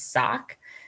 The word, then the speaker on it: saak: start off by seeing there's a lot of different ways to a lot of pronunciations um yulkan hooligan and then the clinket name is sock and so um any